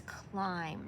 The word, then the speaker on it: climb: the next word is climb now this has a silent letter the B is silent even though you can